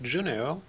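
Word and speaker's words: Juneau: You could make a Berry Nerf Juno or however that name is pronounced.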